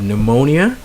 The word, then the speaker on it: pneumonia: for example you have pneumonia so you have a silent P there psychology of course you